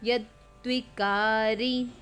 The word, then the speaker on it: यद्विकारी: यच्च यादृक् यद्विकारी, इसमें डबल, इस द को दो बार द का उच्चारण आएगा। यद्विकारी यतश्च यत् स च यो यत् प्रभावश्च तत् समासेन मे शृणु।